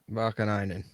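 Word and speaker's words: Vaakanainen: Vakanainen.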